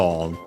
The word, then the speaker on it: を: Then we have the object particle O, written as one, pronounced as such in careful speech and also singing.